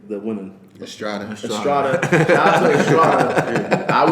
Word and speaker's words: Estrada: Estrada.